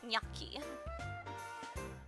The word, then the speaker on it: gnocchi: Apparently a lot of Americans say it a little different. Yeah, see, some people apparently say gnocchi, but my family said it gnocchi. I don't know if that was just their particular accent for saying it.